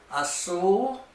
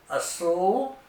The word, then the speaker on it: azul: Azul. Azul means blue. Remember, there's no Z sound in Spanish, so it's pronounced like an S.